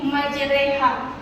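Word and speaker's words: مجراها: yaitu pada ayat yang bertuliskan majraha ayat ini dibaca imalah miring yaitu menjadi majereha bisa ikuti bacanya majereha majereha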